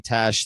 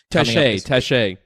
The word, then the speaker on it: Taché: That's going to be Taché. Yeah, he's got the little thing at the end of the E. So that's so that's what we go with. You got to say it correctly, man.